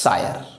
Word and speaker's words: scire: You can pronunciate it as sire, which means to know.